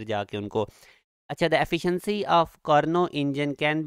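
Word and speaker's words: Carnot: कर्ज जो कारणों इंजन इसमें टी साइलेंट है आपने इसको कारणों करना इंडियन अब्जॉर्ब 1000 आप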